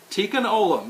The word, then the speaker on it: Tikkun Olam: This is the next to the last, and if I mispronounce this, I apologize. I looked it up. Tikkun Olam. Tikkun Olam, yes.